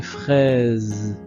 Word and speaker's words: fraises: Ici, la petite remarque, c'est que le S de fraise, le S se trouve entre deux voyelles, la lettre I et la lettre E. Quand le S est entre deux voyelles au milieu d'un mot, le S se prononce aussi comme la lettre Z. Donc comme le son de Z, comme dans les oranges.